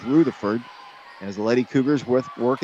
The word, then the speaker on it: Rutherford: That's how she pronounces it, Mark. So when you want to say Rutherford, it is Rutherford.